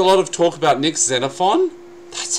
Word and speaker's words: Xenophon: Although there was a lot of talk about Nick Xenophon, that's how you pronounce his name, unnamed Matt, holding the balance